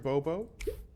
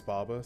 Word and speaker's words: Baba: I mean, for me, my name is Baba, so the number of times I've gotten Bob is a lot, but it's usually